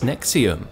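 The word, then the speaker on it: NXIVM: this thing called called NX IVM which he pronounced as nexium at first it seemed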